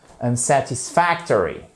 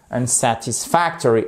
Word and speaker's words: unsatisfactory: Hop, on repère notre accent tonique. On voit qu'on a un petit accent tonique là, qu'on appelle accent tonique secondaire parce que sinon le mot est trop long, donc il s'effondrerait sous son poids. Donc on lui met un petit support juste ici.